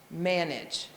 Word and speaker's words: manage: So if you think of manage, well, you can feel your chin go down on the first syllable.